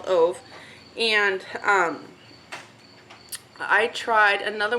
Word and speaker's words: Ove: or aldi or whatever i thought it reminds ever rhymes with love so i think it's a man called oath and um i tried